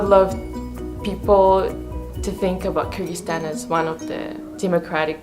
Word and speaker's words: Kyrgyzstan: Kyrgyzstan is also surrounded by Tajikistan, Uzbekistan, and Kazakhstan. It's pronounced like Kyrgyzstan. Kyrgyzstan.